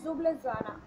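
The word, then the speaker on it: Ljubljana: और स्लोवेनिया की कैपिटल है जुबलजाना, जुबलजाना कैपिटल है स्लोवेनिया की, और जिसमें एल साइलेंट है, और करेंसी है यूरो।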